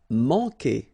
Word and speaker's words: manquer: Manquer. Okay, remember when we get this Q, after that automatically we get this U, but then we don't pronounce the U, okay? So manquer. So it's really que.